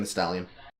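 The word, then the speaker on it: Thee Stallion: office okay with Megan the stallion the stallion do you pronounce the extra e no it's just making the stallion why is there two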